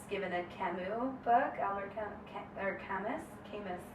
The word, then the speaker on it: Camus: And so I was given a Camus book, Albert Camus. I'm saying it wrong. It's French. Okay. Camus, right? Camus?